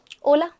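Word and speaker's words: hola: मैंने इसको होला तो नहीं पढ़वाया था, मैंने इसको ओला ही पढ़वाया था, क्योंकि जो स्पेनिश में होता है उसमें एच साउंड जो होता है वो साइलेंट होता है, इसको प्रोनाउंस किया ही नहीं जाता है.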